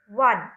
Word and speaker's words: one: A uniform, a 1 rupee note, a one when I say, it sounds as O is silent over here, one.